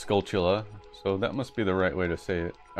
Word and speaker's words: Skulltula: Hey, Pixie says it's Skulltula, so that must be the right way to say it.